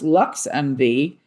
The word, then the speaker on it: LXMV: LXMV, pronounced Lux MV, is Chicago's first ever